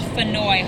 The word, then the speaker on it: Faneuil: Peter Faneuil was of French origin, and here we've never been able to pronounce anything French, so you can call this Faneuil Hall, Funnel Hall, Faneuil Hall.